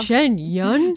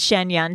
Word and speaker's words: Shen Yun: apparently it's a cult Shen that's how they say it in the commercial Shen Yun Shen Yun Melissa will you explain okay so it's also last week we all just like said Shen Yan to each other and then